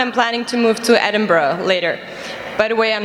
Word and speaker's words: Edinburgh: Yes, it's good. Edinburgh. Edinburgh. Right? Just don't say it like the Americans, those goddamn Yankees. Edinburgh. You said it right.